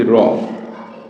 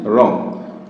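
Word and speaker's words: wrong: আবার যদি আমরা লিখি রং, ডাব্লিউ আর ও এন জি, রং, রং, তাহলে এখানে কিন্তু ডাব্লিউ এর উচ্চারণ হয়নি, আর ও এন জি, রং হয়ে যায়।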